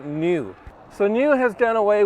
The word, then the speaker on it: NIU: when I say new it's actually spelled NIU I believe it's pronounced new so new has done